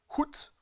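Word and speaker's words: חוט: En hébreu, le mot fil dans ce passage là, on prononce ça hout.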